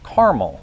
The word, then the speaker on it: caramel: In the US, I've mostly heard two variants. Kiraal, which is more often heard in the South and Northeast, and quite bizarrely, caramel, which is favored in states where syllables are outlawed.